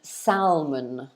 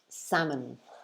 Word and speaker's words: salmon: um so they make the mistake of saying salman salman don't say salman okay it should actually be pronounced like this salmon salmon so as you can hear it's two